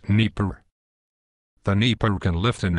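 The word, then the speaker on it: Dnepr: like to discuss is the Russian dnpr often pronounced Neer the Neer can lift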